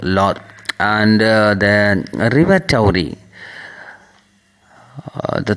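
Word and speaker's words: Laugharne: His home was now a small seaside village of Lorraine, pronounced Lor, and the River Towry.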